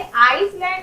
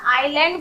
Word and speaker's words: island: तो इसे आइसलैंड नहीं बोलेंगे, आइलैंड बोलेंगे।